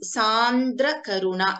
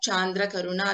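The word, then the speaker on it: सान्द्रकरुणा: So the second word in the second line is Sandra Karuna. It is not Chandra Karuna or Chandra Karuna. It is Sandra Karuna. It is Sa. It is a let. Let is the letter Sa. Sandra Karuna.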